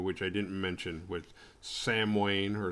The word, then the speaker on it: Samhain: which i didn't mention with sam wayne or sawwin however you say that it's spelled samhain like danzig's old band you know after the misfits before dancing samhain was sandwiched in between those but it's pronounced samo sawin which loomis was an expert in but couldn't